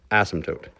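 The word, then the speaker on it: asymptote: horizontal ASM toote uh ASM toote is spelled crazy we just randomly stuck in a p for good measure but it's called ASM toot as if the P was never there it's a silent P I don't know why so if you ever see ASM toote just pretend the p is not there ASM toote there we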